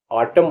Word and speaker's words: autumn: अब मैं ऐसे भी आपको वर्ड्स बताने वाला हूं जिसमें एन साइलेंट होगा। AUTUMN, ऑटम माने पतझड़।